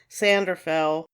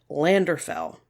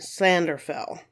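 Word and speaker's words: Llandderfel: pronounced land drillo and Lander fell just so you know but apparently double L's in Welsh have almost an S sound to them so hopefully I'm doing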